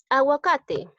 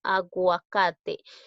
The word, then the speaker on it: aguacate: Aguacate. Agua, en este caso sí estoy pronunciando la U, ¿no? Aguacate.